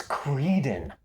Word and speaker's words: Creedon: What's Creedon? It's like Eden, but instead of Adam and Eve, it's Eve and Apollo Creed. Creedon. But he's been picking on my daughter.